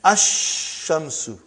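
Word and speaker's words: الشمس: And then ash-shamsu. No al, no lam.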